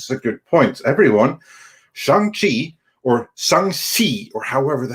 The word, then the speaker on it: Shang-Chi: So no, it's like Shang-Chi or something like that. That's how it is supposed to be pronounced.